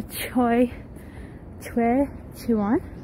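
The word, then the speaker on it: Choe Chiwon: Choe, Chiwon.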